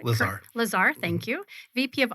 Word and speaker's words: LaZear: in the studio here we also have Gus Lazer did I pronounce that correctly Lazar Lazar thank you VP of operations and Sports